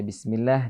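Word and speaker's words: بسم الله: Bi, bi, bi. Jadi diikuti dengan gerakan bibir agak ke bawah, bi, ya. Karena ada kekeliruan ketika membaca bismillah dibaca dengan cara imalah. Bismillah, bismillah, terusnya bi.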